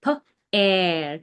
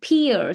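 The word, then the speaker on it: pear: And if I write down the word p and e a r pair. So this word is going to be read as pair and not pier.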